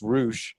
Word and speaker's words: Rush: I don't know how true it is, but Rush and uh Dragon Lee or something like that. Rou, first of all, it's pronounced Rou.